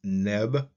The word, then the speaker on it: nb: The bowl without a handle is transliterated NB, translated as Lord, pronounced Neb.